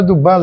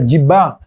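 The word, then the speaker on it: Duval: E na verdade não é Dubal, é Dibá, não é Gularte Gular. Não é Sanchoten, é Sanchote.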